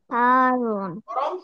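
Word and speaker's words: حارٌّ: বারিদুন হারুন হারুন ঠান্ডা আর হারুন হারুনার মধ্যে কিন্তু তাজদি আছে দুইবার উচ্চারণ হারুন একবারে কাছে দূরে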